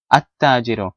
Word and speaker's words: التاجر: but rather أين التاجر, because التاجر is a sun letter, so you don't pronounce the lam, but rather you say التاجر.